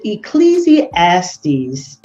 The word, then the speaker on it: Ecclesiastes: down on what that really really means but ecclesiastes that's how you say it 10 and 19